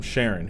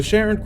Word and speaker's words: Charon: the Greek pronunciation but I'm going off how astronomers pronounce Charon when talking about the moon of Pluto with the same name so Sharon crosses with them and